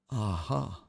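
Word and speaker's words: A'ja: aha aha you're wrong so it's AA okay aha she he she he trying to tell me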